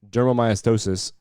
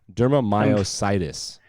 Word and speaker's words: dermatomyositis: Children with juvenile dermatomyositis. Oh, did I mispronounce it? Dermatomyositis. Dermatomyositis, yes. Dermatomyositis. It's the T's, man. I always underpronounce T's.